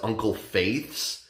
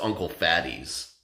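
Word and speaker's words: Uncle Fatih's: look at it, it looks like it says Uncle Faith's, but when you look closer at it, it's like I think it's like a Middle Eastern name or something, but it's pronounced Uncle Fatty's.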